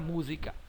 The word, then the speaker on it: música: ordem da escrita Ok então a última sílaba é k a penúltima é si e a antepenúltima é mu música música Qual é a sílaba tônica mais forte é o o si úsica música entãoa Palavra